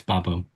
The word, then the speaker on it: Babo: Did I pronounce that well? yeah, it's Babo.